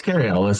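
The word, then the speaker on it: Cary Elwes: I've heard 3 or 4 different ways to pronounce this. I've always called him Carrie Elwes. That's Carrie Elwes.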